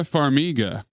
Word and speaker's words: Farmiga: is that how you say her name Vera Farmiga figa and Patrick Wilson repeat offender Liam niss